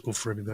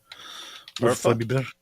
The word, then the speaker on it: Urfa Biber: There's no such thing as Ufra Biber. You mean Urfa Biber? Urfa? Biber? What's that mean? That is a don't ask me things, man. It's a spice. Oh. The spicy pepper spice. Nice. Biber is pepper. Urfa Biber. That's how you say it.